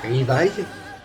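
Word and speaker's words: Livaï: Mais on a aussi Levi, qui s'écrit R-I-V-A-I-L-I-L-2-L-E. Levi, comme la marque Levi, sans le S à la fin.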